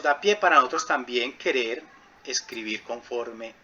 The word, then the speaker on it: Quelle: Quere, ¿cierto? Se escribe Quelle, eso es alemán, pero es Quere, ¿sí?